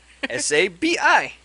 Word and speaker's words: Sabi: you say sabi sabee saab how do you spell it sean s-a-b-i sabi yeah there we go i hit i